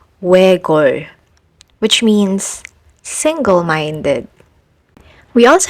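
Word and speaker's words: 외곬: You only need to pronounce l, like in this word, which is read as wegol, which means single-minded.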